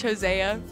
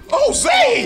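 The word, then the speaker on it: Hosea: Davis and Coach Jose Jose it's oh heck no it's Jose it's Jose it's spelled h o s e a Lord have mercy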